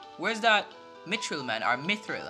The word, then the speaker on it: mithril: that Mitchell man or mithril I think it's mithril why did I say Mitchell I have no idea